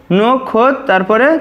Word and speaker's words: নক্ষত্র: তাহলে দেখো নোক, আমরা আগে লিখে নেব নোক, তারপরে খোত, নোক তারপরে হচ্ছে খোত, নোক খোত তারপরে ত্রো, নোক খোত ত্রো, এটাই আমাদের সঠিক উচ্চারণ।